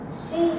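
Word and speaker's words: 四: the word for is pronounced she in Japanese which also means death so uh superstitious Japanese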